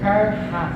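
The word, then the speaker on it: χαρά: palavra alegria irmão é do grego Xara se pronuncia Car mais ou menos cujo significado é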